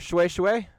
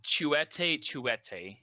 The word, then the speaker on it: Chouette: Shui Shui? I can't see it. It's not. It's actually pronounced Chouette. It's French.